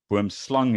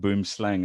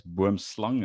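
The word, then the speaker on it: boomslang: snake which is the boom slang boom slung is the right way to say it not boom slang as most people say it's burmslung it's an afrikaans word but that produces a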